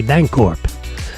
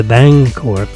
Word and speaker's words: Bancorp: So that's why when you see a Bancorp where it's a B-A-N-C-O-R-P, it's a soft C.